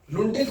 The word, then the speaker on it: लुंठित: भोलानाथ तिवारी ने अपने ग्रंथ भाषा विज्ञान में इसको प्रकंपित माना, लेकिन रे को लुंठित मानते हैं, लुंठित, लुंठित भी मानते हैं, इसको न लगा दो भाई, लुंठित, लुंठित मानते हैं।